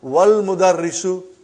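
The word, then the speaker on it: وَالْمُدَرِّسُ: Then we will say, wal mudarrisu. Wal mudarrisu, you did not pronounce Hamza. Okay? Because it's Hamzatul Wasal.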